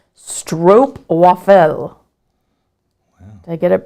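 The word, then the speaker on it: stroopwafel: right Elizabeth has said Stroop waffle pronunciation is stro waffle wow did I get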